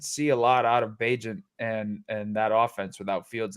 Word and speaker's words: Bagent: But we were playing the game right before we went on air about how to pronounce Tyson Bagent's name. I think I got that right. Is that what we're going with? Bagent? Bagent.